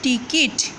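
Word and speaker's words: टिकट: টিকট, টিকট মানে হচ্ছে টিকিট। টিকট কথাটার উচ্চারণ হচ্ছে টিকট, মানে হচ্ছে টিকিট।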